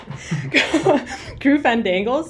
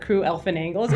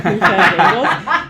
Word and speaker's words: Crew Fandangles: Her name is Jonna, and her handle was Crew Fandangles, not Crew Elfin Angles. It's Crew Fandangles.